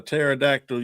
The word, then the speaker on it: pterodactyl: Why can't you hear a pterodactyl use the bathroom? Oh my gosh. Because the P because the P is silent.